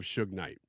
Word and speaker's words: Suge Knight: Michael Harry o' Harris a former associate of Suge Knight and I pronounced that right even though it's it looks